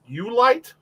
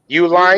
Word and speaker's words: Uline: Ulight? Uline.